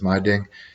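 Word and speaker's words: Meidung: And then there's social consequences that come along with that excommunication called my ding. It looks like my dung, but they told me it was my ding, is how it's pronounced for Pennsylvania Dutch.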